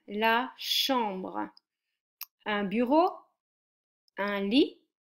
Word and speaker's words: lit: Un bureau, un lit, and don't pronounce the T, it's silent.